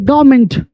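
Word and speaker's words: government: पढ़ते हैं, ठीक है, आर से पहले वॉवेल आया तो आर साइलेंट हो गई। गवर्नमेंट, इसको पढ़ेंगे गवर्नमेंट, जी ओ बी ई आर एन एम ई एन टी, are silent हो गया।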